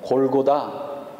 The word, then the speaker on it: 골고다: 으로 된 층 명이었습니다 그것을 그리스식 발음으로 골고다 라고 불렀던 것입니다 09 달을 라틴어 식